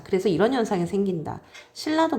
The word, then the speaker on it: 신라: 그래서 이런 현상이 생긴다 신라도 마찬가지입니다 신라도 보니까 앞글자 받침은 니은이 니은 비음이 뒤에 있는 유과 만났어요 그러니까요 굳이 신나 하는 거보다 차라리 뒤에 있는 유음의 영향으로 처음부터 신라 이렇게 발음하는게 훨씬 편하거든요 자 그런 이유 때문에